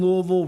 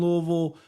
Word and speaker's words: Louisville: Don't say Louisville. They get very upset. It's Louisville. I dated a girl from Kentucky. I married a Kentucky woman. Louisville. Yeah. Yeah. Not Louisville.